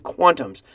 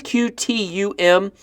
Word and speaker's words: QTUM: is a hundred million Quantum's so as you can see the name is cutie um it's also the ticker cutie um however it is pronounced quantum as you could probably